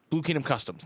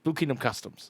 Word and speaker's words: Blue Kingdom Customs: Blue Kingdom Customs, not Productions. Blue Kingdom Customs. Yeah. I said the name wrong.